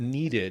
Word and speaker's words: needed: So because of the D, I need that needed. You're all I ever needed, yeah. So you have that extra syllable, that id sound.